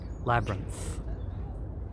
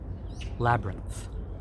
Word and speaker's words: labyrinth: Korean word mero labyrinth make sure you pronounce the th at the end of the word labyrinth labyrinth good oh yes and